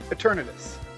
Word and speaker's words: Eternatus: pronounce that Pokemon's name? Eternatus.